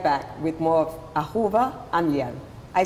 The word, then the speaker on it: Gamliel: We'll be right back with more of Ahuva Gamliel. I said it right this Gamliel. Time. Oh, Gamliel.